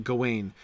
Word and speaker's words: Gawain: poem because it is very clear that in that poem the stress is on the first syllable because it illiterates right you have the stress on the first syllable because that initial G is the important part of it right it is Sir Gawain and the Green Knight because that's how the whole intonation of that poem works but the French Gawain